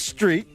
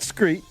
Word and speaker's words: street: But it's street, not screet. And I know you've heard that. It's strawberry, not scrawberry. It's stripper, not scripper.